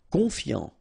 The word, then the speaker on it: confiant: Confiant, okay, final T not pronounced, so O-N, on, I-A-N, ian, confiant, confiant.